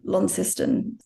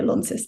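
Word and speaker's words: Launceston: big sprawling veranda and they're they're all over lony we pronounced in Tasmania Lon not Lon but they're all over sort of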